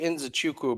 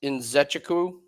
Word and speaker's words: Nzechukwu: I say Nzechukwu, but that's wrong. It's Nzechukwu, I think. I think that's how they've been pronouncing it.